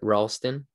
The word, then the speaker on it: Ralsten: right everybody i want to welcome on ralston is that the correct pronunciation yeah perfect so i want to welcome